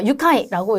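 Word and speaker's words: 愉快: 유카이라고 읽으셔야 돼요.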